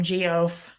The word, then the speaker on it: Geoff: That's funny you say that, Philip, because sometimes I call him Geoff just to be funny. I know that's pronounced Jeff, the other spelling, but I'll go, hey, Geoff.